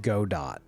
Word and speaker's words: Godot: It's definitely, like, I've never heard it pronounced Godot. It's definitely Godot, right?